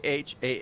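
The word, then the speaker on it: Khan: Our Han demands an audience. You will come. So K h an A is pronounced Han. So, just drop the K, I guess. Huh? The old silent K routine.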